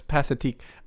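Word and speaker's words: Pathétique: We At first, I was like, okay, I can trust this YouTuber's pronunciation, but that's Pathetique.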